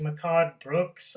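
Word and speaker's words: Mehcad Brooks: second actor I want to talk about is Mikado Brooks I think that's how you pronounce his name he was playing Jimmy Olsen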